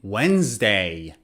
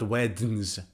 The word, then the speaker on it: Wednesday: The third letter is D, as in Wednesday. D is silent. Wens, not wednes. Wednesday.